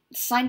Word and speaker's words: sin: pet peeve of mine do not pronounce them sin cos and tan okay it is still pronounced sine cosine and tangent otherwise it just sounds